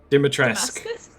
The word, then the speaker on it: Dimitrescu: Dimitrescu. It is. Dimitrescu. It's spelt not how it sounds.